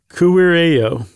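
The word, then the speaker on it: kuirejo: E-J-O, and the J's are pronounced as a Y.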